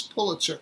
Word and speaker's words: Pulitzer: pronounce the name and the correct way to pronounce the name is pulitzer we know this because of comments that were